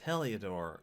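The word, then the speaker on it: Heliodor: back to the others i've been pronouncing it wrong it's heliadore oh i'm going to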